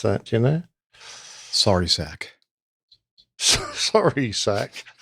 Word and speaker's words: Narsarsuaq: How do you pronounce that? Do you know? Sorry, sack.